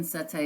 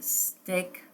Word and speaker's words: satay: And she's recommending chicken satay, but she's not pronouncing it chicken satay. It's coming out more like chicken steak.